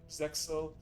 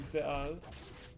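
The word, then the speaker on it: ZEXAL: And then I watched some clips of Zeal or Zexel, but I believe the X is silent, so it's actually Zeal, at least in Japanese.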